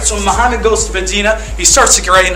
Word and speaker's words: Medina: Medina no no no no no not that city right up the road it's Medina pronounce it correctly guys all right so Muhammad goes to Medina he starts to get